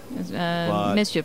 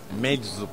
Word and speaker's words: Meczup: Am I pronouncing it right? Misjup? No. No? No, they're close. Do it again. All right, teach me. My Turkish. My Turkish is pretty bad. Yeah, why would you know Turkish? Meczup.